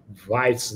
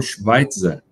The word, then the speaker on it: Schveitzer: Olá, hoje eu estou aqui com Weitz. como pronuncia teu sobrenome mesmo em alemão? Schweitzer, Weitz, né?